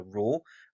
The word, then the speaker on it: rho: Now, density is given by the symbol rho, so it's the Greek letter rho, and that's how you pronounce it.